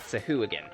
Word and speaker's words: Sahuagin: And water thugs, also known as Sahuagins. Yeah, that's actually the pronunciation of it, Sahuagin.